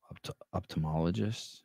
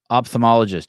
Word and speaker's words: ophthalmologist: There's an H in ophthalmology, OPH. Am I pronouncing that right? Ophthalmologist. It's OPHTH. They don't need that H in there. Silent H. Ophthalmologist.